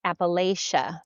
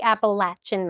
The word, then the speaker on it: Appalachia: So we live in Appalachia, which coming from the Northwest, I always pronounce Appalachia, but I was corrected. It's the Appalachian Mountains.